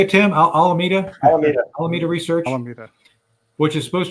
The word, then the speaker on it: Alameda: 2017 to open an Arbitrage Outlet called almond almanita research I can't even say that darn word how do you say it Tim Alameda Alameda research which is supposed to be an